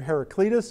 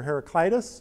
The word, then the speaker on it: Heraclitus: There's a pre-Socratic philosopher by the name of, again, two pronunciations, either Heraclitus or Heraclitus, and I'm going to say Heraclitus.